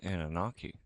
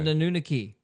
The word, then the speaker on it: Anunnaki: So, sounds like Anunnaki. Yeah, Anunnaki. Anunnaki. Anunnaki. Same thing. Yeah, I'm just mispronouncing it because I'm an idiot.